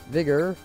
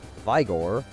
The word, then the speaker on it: Vigor: before no it doesn't vigor or if you want to pronounce it incorrectly by Gore restores HP by 30%